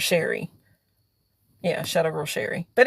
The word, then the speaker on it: Sheri: That it just rhymes with my name. Scary. And then there's Sherry.